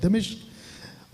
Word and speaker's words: दमिश्क: इसका ये जो सफर था दमिश्क, अभी तक हम लोग कुछ और बोलते थे, लेकिन ये राइट प्रोनाउंसिएशन है दमिश्क और दमास्कस, ये इसका इंग्लिश शब्द है दमास्कस।